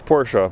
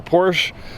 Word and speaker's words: Porsche: It's not Porsche, it's Porsche.